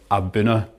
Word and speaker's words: A'bunadh: well abber abuna just to stress again that's pronounced abuna and abuna is GIC and it means origin